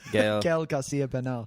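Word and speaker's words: Gael García Bernal: Gail Garcia Bernal.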